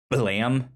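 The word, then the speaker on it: Blame!: uh it's by the same guy that did blam if you're familiar with that spelled b-l-a-m-e with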